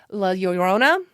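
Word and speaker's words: La Llorona: I always have to stop and think about it because I know how it's pronounced, but my mouth is like we're going to pronounce all the L's. We don't do that.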